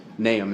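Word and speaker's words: Nahum: in this trial sir there's a lot of pronunciations of it naam is the correct way and n a h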